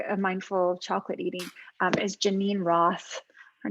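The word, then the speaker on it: Geneen Roth: and practices like a mindful chocolate eating is janine roth her name is spelled g-e-n-e-e-n roth and she's written a ton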